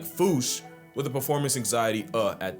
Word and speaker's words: Fossa: If it's Sir Attenborough or the Wild Thornberrys, it's Fossa. And if you want to feel better than everyone, it's foosh. Now, another reason the Foosh